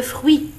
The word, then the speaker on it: fruits: Dans le mot fruit, on ne prononce ni le T ni le S.